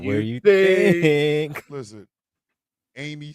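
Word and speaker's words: Aimee: Because I mean, if you look at me, honestly, it should be pronounced Amy.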